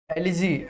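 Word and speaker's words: elegy: से आज हम एक एलिजी एलिजी ये एलिजी भी नहीं होता है, इसको हम एलुजी बोलते हैं, ठीक है? एलुजी ई है लेकिन यू का प्रोनाउंसिएशन करेंगे, ये होता है एलुजी।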